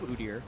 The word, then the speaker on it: Udyr: of speak to the Udyr pick, though. And I'm not going to change my pronunciation of Udyr, as many people that will tweet me elsewise. I think it's the way you should say it.